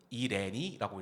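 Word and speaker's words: Irene: 어 곡 제목은 영어로는 아이린이라고 있는데 포어 발음으로는 이레니라고 읽습니다. 음레 있 가사가 굉장히 서정적이고 그 제가 이제 덤핑당했던 여자분에게 추천받은 곡인데 그 항상 그 이별의 순간 여름이었거든요.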